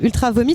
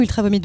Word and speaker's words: Ultra Vomit: aujourd'hui sur le plateau ultra Vomit on dit ultra vomi où ultra vomites bonjour bonjour on prononce absolument toutes les consonnes c'est comme Manar ça